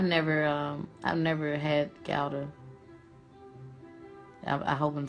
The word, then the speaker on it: Gouda: um I've never had gowder I hope I'm saying it right gouda or data oh it's good day thank you Donna Hammond